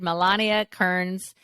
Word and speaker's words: Milana Kearns: with your natural dog and I'm so excited Melania Kearns uh did I say it right did I